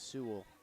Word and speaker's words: Su: We were told the pronunciation is Su.